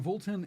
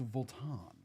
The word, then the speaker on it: Vuitton: It's not Voltton, it's Volan.